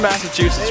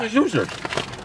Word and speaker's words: Massachusetts: Do you actually pronounce it that way? At the end? Yeah. Massachusetts. Dude, I always heard it pronounced Massachusetts. It's an accent, Nathan.